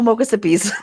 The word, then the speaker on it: Mochassippi: Oh, mochassippies. Mississippi. Oh, like Mississippi.